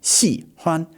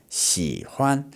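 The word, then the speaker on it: 喜欢: That would be xihuan, okay? It's not like that. It's xihuan.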